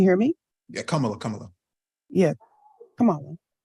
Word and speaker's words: Kamala: Yeah, Kamala. Kamala. That's how you pronounce her name.